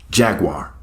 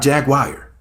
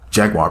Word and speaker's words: Jaguar: up the word Jaguar it's not that hard to pronounce her name Jaguar not Jaguar Jaguar please practice anyways have y'all noticed